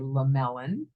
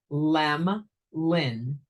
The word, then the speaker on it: Lemelin: spell it wrong so with the e in the middle of the name they say one of two things they say lemelon or they say lemon the name is spelled sounded Lem Lin So for anybody who